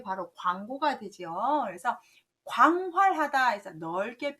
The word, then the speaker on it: 廣: 여러분이 이걸 보실 때 누루 황자 때문에 황 발음을 많이 하시는데 조심하셔야 됩니다. 광 발음이에요.